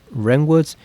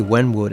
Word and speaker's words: Renwood: worth of history along Renwood's timehonored traditions. Keep wanting to say Wenwood at it like uh the Marvel villain. Wenw. No, it's Renwood. The W is silent.